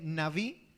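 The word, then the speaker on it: נביא: Quiero mencionar que el término profeta en el hebreo viene de una palabra que se pronuncia o se dice naví, que significa el que fluye, como una fuente.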